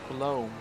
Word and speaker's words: Colombo: Colombo is pronounced Colombe. Colombe, okay.